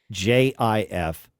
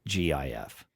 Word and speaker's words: GIF: displayed on screen read, "It's pronounced JIF, not GIF."